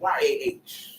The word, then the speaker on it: Yah: short in it because j-a-h that's the that's the English pronunciation of yah there's no J in Hebrew so you're saying y-a-h